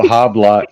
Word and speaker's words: habla: The best I can do is no habla español, and Yeah, then they'll nah, probably start talking English. Yeah. muy You can't amigo, say no no habla habla. español. You don't pronounce the H.